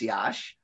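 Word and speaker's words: Iași: the region of moldavia is yash i-a-s-i it's pronounced yash or in in jewish indiana um and a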